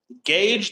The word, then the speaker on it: gauge: Companies might post a ghost job to gauge the talent market. I don't know why I can never pronounce it like gauge, the word spelled out. It's not pronounced how it's spelled.